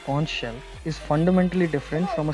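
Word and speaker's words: xonsh: And by the way, that's pronounced conch shell, is fundamentally different from a standard Python wrapper.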